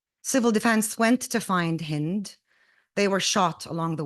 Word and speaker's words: Hind: When I explain my name to Americans, because people can't really pronounce it easily, I say like wind with an H. That's how I say my name. So this poem for Hind Rajab is called Like Wind with an H.